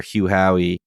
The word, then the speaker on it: Hugh Howey: We had the author Hugh Howey, correct? I'm not pronouncing.